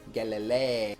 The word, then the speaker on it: Galilei: started dd savant Galilei bet you thought I was gonna not pronounce that right I actually am not entirely sure I did but I'm pretty sure it's supposed to be like Galileo Galilee get Galilei this dark little tin